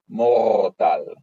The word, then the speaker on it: Mortal: For example, this specific Rakshasa, his name was Mortal, but he rolled his R, so he should be properly pronounced as Mortal.